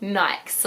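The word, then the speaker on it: Niyx: But it said like Nyx. In Lynette's pronunciation guide, she's like, yikes! But with an N, basically is like the best way of explaining it.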